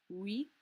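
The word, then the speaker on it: huit: skipping that p entirely wheat wheat there's no h pronounced the beginning of words and these so the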